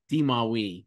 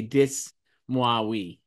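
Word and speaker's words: Dis-moi oui: Uh, Elizabeth Debicki did a dis- How do you say this, Joyce? D'Moiwi. D'Moiwi. D. I was going to say dis- Moiwi.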